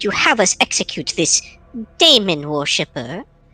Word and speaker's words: Daemon: Lord Captain, would you have us execute this Daemon worshipper? Technically, the A is silent in that. I've recently found out. I don't know why. I guess they just wanted to be different, but whatever, right?